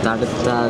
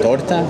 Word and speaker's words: tarta: Tarta de zanahoria. Oh, zanahoria. Tarta de. Oh, torta? Tarta? Torta? Tarta. De trufa. En castellano se dice tarta.